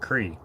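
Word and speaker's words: croí: requests today uh kroy the irish word for heart is kroy pronounced cree oh really nice uh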